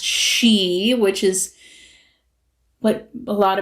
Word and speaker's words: Sidhe: So, Samhain was a time when the she-mounds, and that's Sidhe, but pronounced she, which is what a lot of people would know as the fairies.